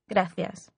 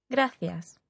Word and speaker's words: gracias: welcome to Malaga the reply to this was graas thank you in this word the letter c is pronounced like the English listen again and practice saying it yourself graas perhaps you've heard these words before too Barcelona